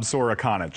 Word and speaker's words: Sorokanich: Sorokanich is all right. Some of my own family can't pronounce it. Thank you for being forgiving. Sorokanich, I know how to say it, an automotive